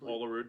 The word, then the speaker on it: Olerud: Olerud.